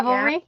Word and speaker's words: Ravelry: how you pronounce Ravelry? Yeah. Ravelry?